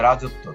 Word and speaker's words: রাজত্ব: দুইবার উচ্চারণ হয়েছে বিদ্যান একেবারে রাজত্ব ত এর সাথে বফলাটি আছে এখানে ত টা দুইবার উচ্চারণ রাজত্ব একইভাবে অশ্ব শব্দটি তো তাই